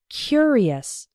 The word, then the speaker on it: curious: we pronounce it the the adjective form is curious the first syllable is strong he was a curious boy and in the